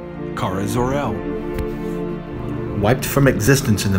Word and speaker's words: Kara Zor-El: zor-el pronounced Kara zor-el wiped from existence in the mid 80s during